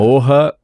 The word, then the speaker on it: Morra: Morra, na palavra em português mesmo, Morra Aarons, com 2 As, Mele, M-E-L-E.